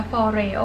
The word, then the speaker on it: FOREO: ตัว นี้ นะ คะ ชื่อ แบรนด์ เนี่ย เขา อ่าน ว่า เฟอเรโร่ นะ คะ คือ for Every One ก็ คือ ย่อ มา จาก ปอด eo นะ for Every ม่อน นะ คะ พอริโอ้ borei